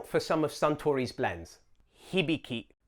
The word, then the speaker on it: Hibiki: Hibiki. Another great example of how each syllable is the same length, if anything, leans subtly into the first syllable.